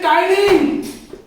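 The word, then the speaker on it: टायलिन: Enzyme को बोलते हैं टाइलिन. टाइलिन बच्चों लिखते हैं पटाइलिन, बट पढ़ते हैं टाइलिन. पी जो है हमारा ये साइलेंट है.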